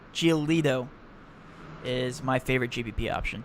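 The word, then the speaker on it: Giolito: i like geo geolito i keep on saying geologo geolito is my favorite gbp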